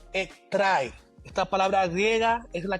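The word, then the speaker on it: ἔχθρα: Bien, la raíz etimológica de la palabra enemistad es una palabra griega que se pronuncia algo como ektrai.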